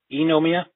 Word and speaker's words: Eynomia: got it correct me if I'm wrong is if I know Mia or is it pronounced in another way oh yeah II know Mia yeah I had a feeling I was pronouncing